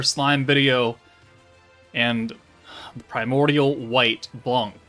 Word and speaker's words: Blanc: video and primordial white Blan blond blond however you want to say it in French Blanc with a c with a hard c on it is now in the